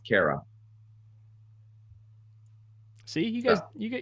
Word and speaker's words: Cairo: but it's pronounced Kara.